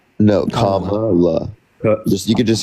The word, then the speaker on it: Kamala: Kamala? No, Kamala.